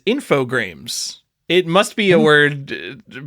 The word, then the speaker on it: Infogrames: M4 Games, right? Am I wrong? Infogrames. I got this wrong as a kid too, but as an adult, Infogrames? It is Infogrames.